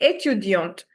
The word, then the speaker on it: étudiante: Everyone repeat repeat with me And a female student, we just add an e and the pronunciation will be étudiante.